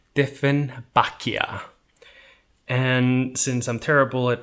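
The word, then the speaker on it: Dieffenbachia: icelandic name for it we just pronounce the english slash german name with an icelandic accent different bakia and since i'm terrible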